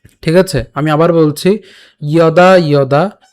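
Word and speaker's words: যদা: প্রথমে উচ্চারণটা কেমন হচ্ছে? ইয়দা। কেন? এই যে প্রথমে আমাদের কি আছে? অন্ত্যস্ত জ আছে, যার উচ্চারণটা অন্ত্যেস্তীয়র মতো, অর্থাৎ ইয়র মতো হবে। সোজা কথা, ইয়।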